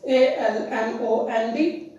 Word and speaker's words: almond: The seventh word is ALMOND. It is pronounced as almond. L is silent, and this is not A.